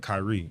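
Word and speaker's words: Kyree: It ain't spelled like people normally do. So, my middle name Kyrie, it's K Y R E E.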